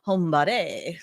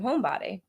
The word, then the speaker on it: Hombadi: only one who probably has the accent on the o that throws me off homebody home it is on